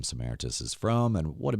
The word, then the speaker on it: Samaritas: And like I said, as I get to be now Samaritas, that's the correct way to say it, first of all? Yep, you got to just assume Greek.